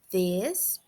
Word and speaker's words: this: em inglês para vocês, temos this, que a pronúncia vocês podem pronunciar de duas formas, tá? Vocês podem escutar também de duas formas, colocando a língua nos dentes superiores, né? This, ou this, com um som suave de D, this.